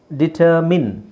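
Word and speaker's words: determine: main ನನ್ನ main ಆದರೆ ಇಲ್ಲಿ ನಾವು ಡಿಟರ್ ಹಾಕಿದಾಗ ಏನಾಗುತ್ತೆ ಇದರ ಉಚ್ಚಾರಣೆ ಮಿನ್ ಆಗುತ್ತೆ ಡಿಟರ್ಮಿನ್ ಡಿಟರ್ಮಿನ್ ಬರಿ ಹಾಕಿದರೆ ಬರಿ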